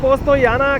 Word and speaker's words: Postojna: आपको दिखाते हैं जी पोस्ट या ना के पस्तो जे साइलेंट है इसके बीच में तो